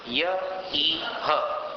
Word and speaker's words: य इह: भूत्याश्रितं, ये हो गया। फिर य इह नात्म समं करोति। य इह, यह नहीं, य इह।